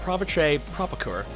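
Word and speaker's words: Pavitr Prabhakar: his real name is pep-pep a pitcher Prabhakar okay I'm a white guy from Florida I'm sorry i can't speak indian in all seriousness his name is pronounced pravesh a prop occur and he's low in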